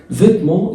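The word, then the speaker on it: vêtements: فيتمون يعني الملابس. الاس ما بتتنطقش والتي ما بتتنطقش والان بتتنطق وهقول لك ليه كمان شويه مع بعض.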